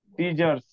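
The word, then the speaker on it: scissors: गया तो सी से, देखो सी से स, सीजर्स, सीजर्स, सीजर, सीजर। सीजर्स। यार आपने सबका फोन उच्चारण वाला देखिए, सबका गाना अलग लिखा अलग रहता है, उच्चारण होता है।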